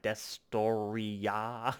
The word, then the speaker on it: Destoroyah: It's like Destoroyah, so it's got the ya at the end.